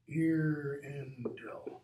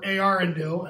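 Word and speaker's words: Eärendil: Irindil. Or Arindil, as it should be pronounced.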